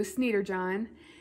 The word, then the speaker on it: Sniderjohn: Blue, which by the way, last video I said his last name wrong, even though I thought I corrected myself. It is Dr. Blue Sniderjohn, and he came to